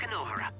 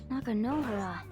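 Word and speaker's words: Nakanohara: shabuya we changed it the guy's name is not nak noara nakan noara that's Mam's student I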